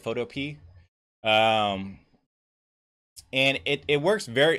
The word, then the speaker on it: Photopea: So that's called Photopea. I think that's how you say it, Photopea.